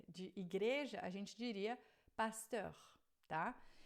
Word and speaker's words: pasteur: Com E-U-R no final, pasteur. E aí a pronúncia é heure. Você faz uma boca de O e fala vai ficar pasteur, tá?